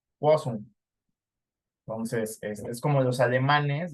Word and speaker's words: Poisson: Acuérdate que los franceses, la OI se pronuncia como UA, entonces Poisson. Poisson.